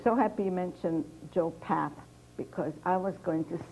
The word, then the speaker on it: Papp: I forgot, but I'm so glad I was even wondering, how do you pronounce P-A-P-P? Pap or Pop? Pap. Pap. And what can you give any sensible advice to budding playwrights?